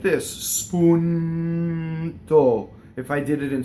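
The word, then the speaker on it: spuntò: So now a lot of words that end in final O with an accent on the last syllable, which is not a typical accent in Italian, will have an open O, right? So in this case, spuntɔ, right? Open O.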